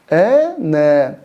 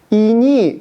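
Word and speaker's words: іні: И вот вы знаете, есть хорошее слово казахское «братишка», «не». Если его ошибочно произнести и подумать, что все-таки эта палочка как «и» произносится, то будет грубейший акцент, и вы произнесете «ини». Это не «ини», это «не».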